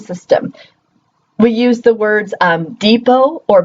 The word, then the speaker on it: depot: We use the words depot or buffet as great examples of that. Both of those words end in a T. Do you ever pronounce the T? Do you say depot or buffet?